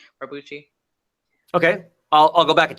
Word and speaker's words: Barbucci: I think you have to pronounce his name, Barbucci.